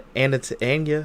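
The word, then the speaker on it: Anya: just scummy crummy guy scummy crummy guy Anna an ana ana if you say her name correctly Ana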